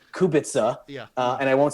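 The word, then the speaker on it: Kubica: So, so she might have said something like her his name should be Kubitza.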